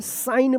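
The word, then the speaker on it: sign: साइन पढ़ेंगे।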